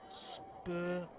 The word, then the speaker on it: Spavalda: But Kevin Spavalda with that, our trusted cameraman, Jay Hancock, tapped me on the shoulder earlier when I mispronounced his name, and he sounded it out using syllables. Spavalda.